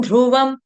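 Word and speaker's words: ध्रुवम्: च कूटस्थ मचलन ध्रुवंम धनुष का है और छोटा उ ध्रुवं ध्रुवं धनुष वाला छोटा उ ध्रुवंम व पूर्ण और म हलंत म आधा ठीक है अब आप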